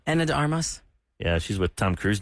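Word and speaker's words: Ana de Armas: Anna Hermes or how do you say her name? Anna de Armos.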